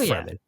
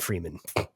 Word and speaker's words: Fremen: They got the proper pronunciation of Fremen. It's Fremen, not Freeman.